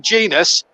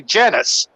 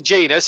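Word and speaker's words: Jenas: remember, one was Jermaine Genius. A lot of people, when he broke into that Forest team at 17, used to say Genus. Yeah. And then it was Jermaine Genius.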